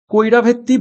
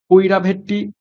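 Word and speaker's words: Karaivetti: পরীক্ষাতে এসেছে এই প্রশ্নটা কৈরা ভেত্তি বার্ট স্যাংচুয়ারি ভারতের কোন রাজ্যে অবস্থিত রয়েছে সরি আমি উচ্চারণটা ভুল করলাম কড়াই ভেত্তি কারা ভেত্তি বার্ড স্যাংচুয়ারি সঠিক উত্তর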